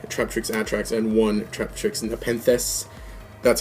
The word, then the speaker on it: Nepenthes: Then the last ones is just one Traptrix Atrax and one Traptrix Nepenthes. That's how you pronounce it, just in case you're wondering.